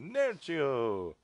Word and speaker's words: Nerchio: of Starcraft 2 wings of Liberty between uh Nero hey see that's how you pronounced his name he's Italian hey Nao yeah